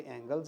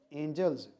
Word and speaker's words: angles: तो ये एंजल्स नहीं है, ये एंगल्स है, एंगल्स आएगा। इसमें एक मिस्टेक थी।